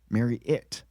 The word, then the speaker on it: Marriott: It's Marriott. Marriott. Like you're going to marry it.